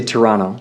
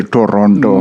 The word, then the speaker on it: Toronto: I think the Canadians say Toronto. Toronto. I used to say Toronto. Minnesotans, I think, will say Toronto. Toronto. We're a hard T.